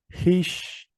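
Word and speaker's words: hix: La H en este caso es un sonido suave, como de una J suave. ¿Sí? Es un sonido muy parecido a la H del inglés. Esta palabra se pronuncia hish, hish, hish.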